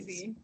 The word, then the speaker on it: Swayze: Is that how you pronounce his surname? Swayze.